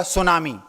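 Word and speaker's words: tsunami: कभी-कभी जैसे आपने एक शब्द सुना होगा सुनामी। उसकी स्पेलिंग है टी एस यू एन ए एम आई। शुरुआत होती है टी से और उच्चारण होता है एस से।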